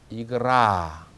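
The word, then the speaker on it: игра: 놀이, 경기 이런 뜻인데 강세가 뒤에 있습니다. 그래서 이그라 이렇게 그 소리를 그대로 분명히 그리고 길게 내줍니다.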